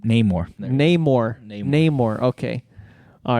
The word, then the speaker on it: Namor: is it not more No Name more that's how you say it name more oh okay soccer